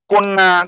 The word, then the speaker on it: কন্যা: কন্যা, কল্যাণ, ল, 2টা ল, লয় ল।